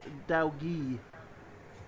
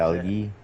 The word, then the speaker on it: Dalgi: It's Dalgi. So you pronounce it. Dalgi. Yeah. So you pronounce it Dal, the space Gee.